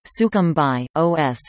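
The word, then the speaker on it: Sucumbíos: sooo cambios Spanish pronunciation sukham by OS is a province in northeast Ecuador the capital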